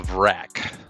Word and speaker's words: Vrak: So let's break down the Vark. Did I pronounce that correctly? The Vrak.